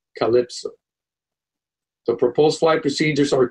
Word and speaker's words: CLPSO: For example, the CLPSO waypoint will be pronounced Calypso.